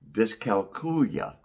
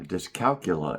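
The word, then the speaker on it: dyscalculia: brought up the word discalcula. Uh discalcula is the way some people pronounce it. Uh someone said it reminded them of the word Julia.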